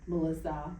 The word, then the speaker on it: Maulissa: it's spelled M-A-U. Okay. M-I-S-S-A, but it's pronounced Melissa.